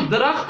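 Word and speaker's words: दरख़्त: हम दरख्त बोलते हैं, जबकि उसका प्रोनाउंस दरख्त है, मिलाकर पढ़ना होता है।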